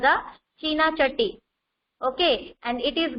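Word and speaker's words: चीन: is refer here to China. Okay, and you are also aware that China is also known as Chin in Hindi. We pronounce China as a Chin in Hindi.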